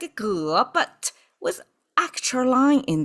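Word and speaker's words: 戈: Pronounced as ge, and you can see here it's double of those stacking up.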